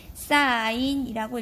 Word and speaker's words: sin: SIN이라고 쓰고요. 읽을 때는 사인이라고 읽어주시면 됩니다. 이건 약속이기 때문에 왜 이렇게 돼요 하면은 사실 곤란합니다.